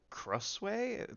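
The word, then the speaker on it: Krasue: I just know that the killer is a Crusway. That's how you pronounce it.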